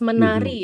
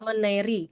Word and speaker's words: menari: Dancing it's menari ya not meneri. Menari ya.